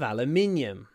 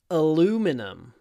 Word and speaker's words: aluminum: car is made of aluminium but in American English it's aluminum the body of the car is made of aluminum there we go aluminum